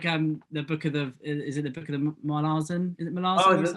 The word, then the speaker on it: Malazan: But it is the way that the authors pronounce it is Malazan. Yeah. And pronunciation will probably come into this a lot,